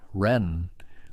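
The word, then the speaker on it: 仁: At the heart of Confucian thought is a concept called Ren, pronounced something like Ren with a rising tone, often translated as benevolence or humaneness or loving kindness toward others.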